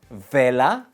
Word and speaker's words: vela: En español pronunciamos la B y la B igual. They're the same. Vela, no. Vela. No uses los dientes.